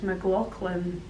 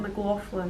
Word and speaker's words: McLaughlin: I met and Ray I told him it's McLaughlin not McLaughlin because that's a second name but he oversees